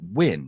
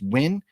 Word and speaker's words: Nguyen: And I think if I remember right, you just pronounce it Win, right? Is it just Win?